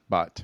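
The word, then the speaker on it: baht: it's pretty easy these days how do you pronounce it but bot bot B aht oh that's right B aht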